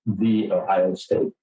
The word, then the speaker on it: Ohio State: I had been asked and then accepted the job at the Ohio State, which you are told, very quickly that that's how you should pronounce it.